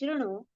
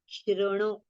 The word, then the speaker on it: शृणु: Now while reciting this Shrunu, Shru, Rishivalaru is there, so don't open your mouth. Okay? Shrunu, Shrunu. Okay? So both the letters have with a short pronunciation.